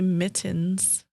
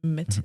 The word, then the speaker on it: mittens: just like you say mittens you I pronounced the t's mittens mittens also say Milwaukee